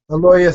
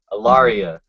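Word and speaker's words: Ellaria: Aloria Sand. Say her name again. Aloria Sand. Aloria. Aloria. Alaria.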